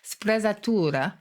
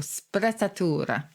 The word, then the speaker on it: sprezzatura: And there's a lovely Italian word, actually, which is called I'm giving it a German pronunciation there, sprezzatura.